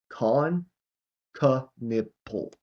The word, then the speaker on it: Kon Knueppel: And his name, they had the full pronunciation here, Kon Knueppel, like a nipple, I guess you could say.